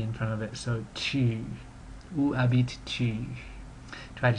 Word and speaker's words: tu: It's not simply like oo, but u. So, a little tip with making the sound, and this applies to going through the alphabet, which you did last week as well, is to make an E sound, like with a wide mouth, E, and while you're doing it, try to round your lips. So E, E, E. That's kind of how you get the sound.